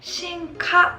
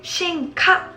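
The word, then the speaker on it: 臣下: 그것 을 " 효 " 라고 읽는 것 은 잘못 된 것 입니다 . " 신카 " 라고 읽어야 합니다 . 다시 한번 말씀 드리지만 , " 신카 " 라고 읽으세요 .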